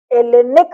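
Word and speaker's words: Hellenic: तो जिसको वर्तमान में ग्रीस कहते हो, जो स्वयं को आज की तारीख में एलेनिक रिपब्लिक कहता है, जिसमें बेहूदे में आगे में एच भी जुटा हुआ है, एच साइलेंट है।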